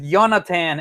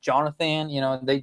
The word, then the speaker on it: Yonatan: My name is Yonatan, and you can call it just Jonathan. My parents just basically misspelled my name. I was wondering about that. I didn't know the pronunciation. Yeah, you're right. So it's basically the same. So it's basically Jonathan, in the English version, but it's in Spanish, Jonathan.